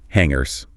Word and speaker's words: hanger: And in the closet, you'll find hangers for your clothes. And listen to that ng sound again. It's nasal. Like h hanganger. No hard g.